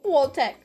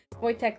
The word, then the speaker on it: Wojtek: Phonetically spelled Wojtek and pronounced as such. Wojtek.